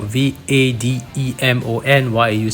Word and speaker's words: Vademon: Why do I say Vademon when it's spelled Vade, like Vademon? Well, according to Wikimon, its potential etymology or origin of its name is from the word invader, which is pronounced invader in Japanese characters.